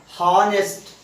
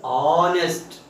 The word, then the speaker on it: honest: Here in this word H is silent, so we should not pronounce it as honest. This is honest.